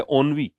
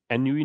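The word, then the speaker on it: ennui: अगला है ओनवी, प्रोनाउंसिएशन क्या है इसका, ओनवी, एनयूवी नहीं है, ओनवी।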